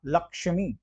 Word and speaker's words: लक्ष्मी: छ और क्ष, देखिए आप उच्चारण में आप लक्ष्मी, क का आ रहा है ना, लक्ष्मी क आ रहा है, तो ये जायज सी बात है, छ तो नहीं होगा, ये लक्ष्मी हो गया, तो लक्ष्मी।